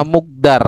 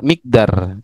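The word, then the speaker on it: مقدار: Ada yang bacanya mukdar tadi. Nah, kalau kita lihat di kamus itu ada enggak langsung pada seperti ini jumlah kok mukdar. Miqdar ya. Sampean bacanya apa? Muk mukdar. Oke. Yang benar apa? Berarti mikdar. Mqdar. itu ukuran mqdar, Pak. Ya, enggak ada yang mukdar.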